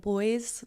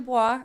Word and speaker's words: Bois: And so most people are like pronounce it like boys, but yeah, it's that's actually what I was Bois. going to say. I'm glad I did. Yeah, it's actually Bois, and it means wood.